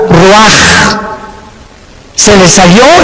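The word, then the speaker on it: רוח: Y exhaló Isaac el Roach. Así como suena, se pronuncia la CH en hebreo como J, Ruach.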